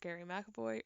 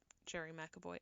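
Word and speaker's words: Gerry McAvoy: by Rory's brother Donald and his bass player Gary McAvoy, or Jerry McAvoy. I always get thrown off when I see Jerry spelt with a G instead of a J, and I want to say it's Gary.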